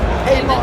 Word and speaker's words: Peymon: Peymon, like the man that pays.